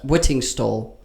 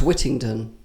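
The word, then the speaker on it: Whittingstall: comes in women's hair I think you're saying his name wrong aren't you is that right whitting stall I thought it was wittington no no that's dick wittington Oh that's oh yeah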